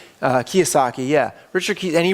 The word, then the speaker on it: Kiyosaki: It's a book by Richard, it's spelled like Kawasaki, but I think it's pronounced Kiyosaki. Kiyosaki, yeah.